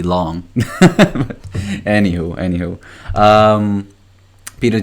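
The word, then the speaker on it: Piotr: name wrong I'm sorry it's spelled P I Oh TR but pronounced Peter so sorry Peter and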